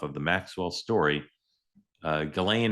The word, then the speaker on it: Ghislaine: the Maxwell story, uh Galain Maxwell, am I saying her name right now? Galain, is that how you say it? clean. That's how it's commonly spoken, though. Some people say she calls it Jellen.